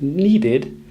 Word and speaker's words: needed: So, we can imagine needed as being spelt N-E-E-D-I-D and created as being spelt C-R-E-E-A-Y-T-I-D.